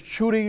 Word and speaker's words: Chuti: So she has to say it's Chuti, like Judy with a chu.